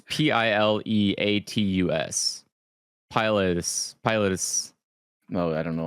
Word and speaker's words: pileatus: So for bird heads, just as a heads up, my favorite is the Dryocopus pilatus. What? Pilatus? Exactly. You mean? I don't know. It's Pileatus.